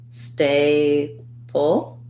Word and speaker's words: staple: word staple so in the word staple we have an a diphthong stressed first syllable stay pull and then we have a syllabic l so it's going to sound like the word stay and then it's going